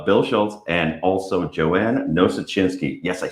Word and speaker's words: Nosuchinsky: today we have Bill Schulz and also Joanna no such insky yes I said it right did it dammit